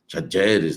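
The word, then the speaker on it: Talleres: questão do Garro, Rodrigo Garro, que era do Tajeres, né? Tajeres, né? Lá estava na Argentina, lá eles estavam, eu estava vendo a pronúncia certa, Tajeres, né?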